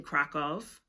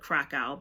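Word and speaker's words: Kraków: Um and I have a friend that lives in Kov, Poland. Some people call it Kkow, but the correct pronunciation is Kov. That is how Polish people um pronounce it.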